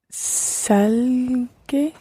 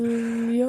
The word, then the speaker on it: salió: salgue. Yeah, we're in the right lines here. Salió.